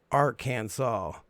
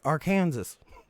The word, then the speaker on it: Arkansas: ridiculous and dumb so arkansas must be pronounced arkansas yeah yeah yeah i get it y'all don't like it when people are like our kansas or kansas don't worry i mean